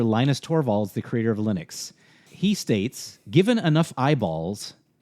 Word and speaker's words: Linux: So, so he's basically My name is Linus Torvalds, and I pronounce and I pronounce Linux Linux.